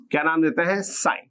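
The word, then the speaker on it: sine: से देखो एक बार हम परपेंडिकुलर का हाइपोटेन्यूज साइ अब आप ध्यान रखना इसकी जो एक्चुअल स्पेलिंग है वो कुछ ये होती है एस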